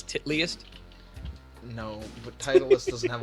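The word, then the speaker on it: Titleist: Like Titus isn't Titalist. It's Titlyist.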